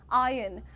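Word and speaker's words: iron: आयन अब ये कहना चाह रहे हैं कि आर को दबाकर बोलो। ठीक है? तुम आई अर्न मत बोलो।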